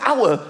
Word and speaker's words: hour: Why is the word hour spelt with an H? Why is there an H? The silent H.